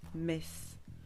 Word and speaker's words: Metz: France notre voyage débute à mess M e t Z qui se prononce mess une ville charmante pleine